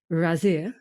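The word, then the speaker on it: Ghazir: you to take us all the way to razir now hopefully I'm pronouncing it right I did ask just before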